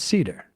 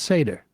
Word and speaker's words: Seder: But in this instance, as you know, my last name is Seder, or sometimes pronounced Seder, Right.